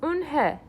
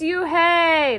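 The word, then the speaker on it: Unhei: "Eunhye," said Eunhye. "Eunhye?" the girl asked, scrunching up her face. Ooh, nay, some kids chanted. No, Eunhye corrected. It's spelled U-N-H-E-I. It's pronounced Eunhye. "Oh, it's you, hey," the boy said, "like you, hey."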